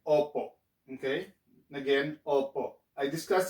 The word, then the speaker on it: opo: stop okay so instead of oppo you say oppo now another way we say oppo which we